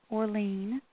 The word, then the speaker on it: Orleane: You can find it on Inner Traditions' website, or you can look at my website, which is Orlean, and that's spelled Orleane.